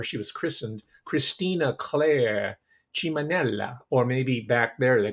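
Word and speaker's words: Ciminella: was christened christina claire chimanella or maybe back there they call it simonella but if you want to give it the italian pronunciation it's chiminella right christine claire so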